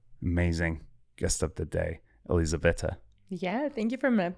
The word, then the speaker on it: Elizaveta: So I say, I think Elizabeth, but like with an Italian accent.